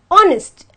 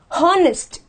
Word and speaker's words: honest: I have to say honest and not honest so automatically this becomes silent and the first word